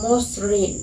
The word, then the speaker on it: মসৃণ: কোনো ব্যঞ্জন বর্ণ থাকে, তবে ও অ এর উচ্চারণ ওকার হয়। ওকার হয়। যেমন ধরো যে মসৃণ, মসৃণ, এখানে মর সাথে